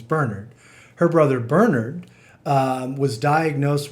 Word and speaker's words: Bernard: that her brother bernard not bernard the irish pronunciation is bernard her brother bernard was